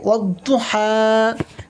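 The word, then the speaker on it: وَالضُّحَىٰ: কিন্তু অনেকে আলিফ মাদ্দা মনে করে এখানে টান দেয় যে ওয়াদোহা বলে অনেকে উচ্চারণ করে। যখন আপনি ওয়াও দোয়াদের সাথে মিলিয়ে পড়বেন তখন এই টান হবে না। বরং এই যে আলিফ লাম এসছে আলিফ লাম বাদ দিয়ে ওয়াওকে দোয়াদের সাথে মিলিত করে উচ্চারণ করতে হবে। তো কি হবে? বিনা টেনে পড়তে হবে। হবে ওদহা।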